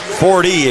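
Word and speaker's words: Forde: Fordy, excuse me, F-O-R-D-E. You pronounce the E at the end.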